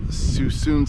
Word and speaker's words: Suisun: Howdy folks, here in Suisun City, I think that's how you say it, S-U-I-S-U-N, Suisun City.